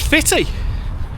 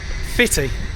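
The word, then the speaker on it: Footdee: But apparently, the local Scots call it Fitty.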